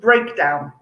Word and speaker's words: breakdown: um let's think of breakdown okay break down okay again verb preposition okay again the first syllable break is stressed when we're using as a noun so maybe there's a